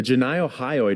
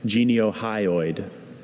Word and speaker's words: geniohyoid: The ganiohyoid muscle assists in swallowing. Can you say it? Janiohyoid. Uh, can you say the alternate pronunciation again? Ganiohyoid. Geneiohyoid.